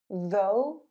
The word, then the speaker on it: though: Number 4, O-U-G-H sounds like O. Though, dough, thorough, thoroughly.